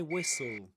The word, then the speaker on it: whistle: Just like the word castle and the word nestle or nestled with the ed at the end, you don't pronounce the t in whistle, right?